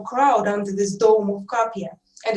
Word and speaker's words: KAPIA: features this international crowd under this dome of capia and it's copia that's the way i pronounce it but because it's an international word